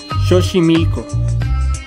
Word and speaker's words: Xochimilco: ejecant número 4 ligth la pronunciación de la x en el náhuatl es completamente distinta a cómo se pronuncia en el español mientras que en el español la equis suena como una jota a veces incluso como una s el náhuatl suena como un ar esto es debido a